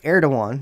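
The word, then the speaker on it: Erdoğan: are doyon heard again what is it air don't want and that's the way you pronounce it tie up air to one decision to withdraw their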